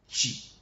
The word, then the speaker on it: tsi: Just like we call water Chi, TSI, Chi.